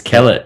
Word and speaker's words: Kellett: It's Kellett. Yeah, Kellett, you say it right. I said it right. Cool. A lot of people say it like Gillette, like the razor, but yeah, Kellett.